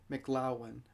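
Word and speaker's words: McLoughlin: tom mclaughlin or mclaughlin i hear different people pronounce it different ways but it's uh m c l o u g h l i n so mclaughlin i'm not sure mclaughlin depends how you pronounce it now like i was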